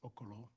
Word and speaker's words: Okolo: Okalo. Okay. Sir, could you please state your name? It's spelled for the synographer. My name is Okolo.